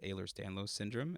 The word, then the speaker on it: Ehlers-Danlos syndrome: kind of thing of this this disease called ehlers-danlos syndrome it's spelled weird it's e-h-l-e-r-s-d-a-n-l-o-s um and it's a